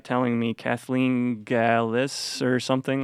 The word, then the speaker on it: Gallais: Yeah, I always tell people Gallais rhymes with ballet, like ballet dancing. The S at the end throws people off, so that's a good way to remember it.